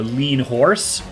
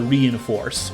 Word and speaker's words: Reinforce: Because in Japanese it's spelled like Rin Hosu. So a lot of people have mistakenly called it the Lean Horse. But I believe it is in fact called the Reinforce, officially, the name of this battleship.